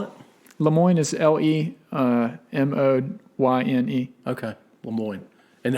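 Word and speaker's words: Le Moyne: college called lemoine in uh syracuse new york spell it lemoine is l-e-m-o-y-n-e okay lemoine and how did you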